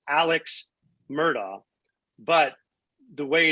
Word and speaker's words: Alex: read it in the paper or whatever it's alex murdoch but the way it's pronounced in the in the low country is elec or elec murdoch did i get a right